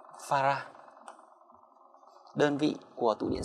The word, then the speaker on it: farad: Thì đơn vị của tụ C là chữ F, đọc là Farah.